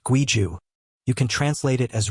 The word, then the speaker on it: 规矩: In Chinese, it's Guiju, pronounced Guiju.